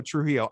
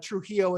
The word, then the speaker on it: Trujillo: it's really hard for me to say so trujillo i'm glad i nailed it there good but